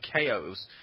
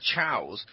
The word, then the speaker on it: Chao: That's why, for the longest time, I was pronouncing them KOs. Now, I know they're Chows, but for the longest time, I was pronouncing them KOs because it's chaos without the S.